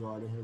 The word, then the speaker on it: Euler: Euler, escrito Euler, só que a pronúncia certa é Euler, né?